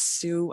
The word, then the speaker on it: Su: collaborate sure thing so i say that my name is and it's partially because when i used to say my name is sue people say sue what's your last name i was like no it's sue i married it you